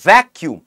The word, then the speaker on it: vacuum: উচ্চারণটা হচ্ছে ভ্যাকিউম। ভ্যাকিউম কথা অর্থ কি? দেখো ভ্যাকিউম যখন আমি বলছি তাহলে আমাদের কাছে উচ্চারণটা ভ্যাক আসছে, তাহলে ভ্যাক যখন প্রথম সিলেবেলে আমাদের যখন চাপ পড়ে যায় তখন আমাদেরকে ডবল ভাওয়েল